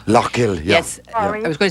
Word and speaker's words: Lough Gill: Somebody told me that you have to go up near Sligo to Lough Gill and take a boat from Lough Gill. Lough Gill. Lough Gill, yeah.